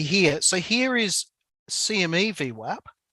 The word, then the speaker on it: VWAP: the rising v sure now i say v because i'm in australia and i know because it's spelt vwap and a lot of the americans say v1 right but i'm going to stick to uh v web all right so this